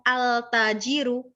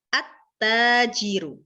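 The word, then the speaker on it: التاجر: Ketika al ketemu dengan ta, maka ta alnya ini nggak jelas, nggak terlihat. Bacanya bukan al-tajiru, tetapi at-tajiru.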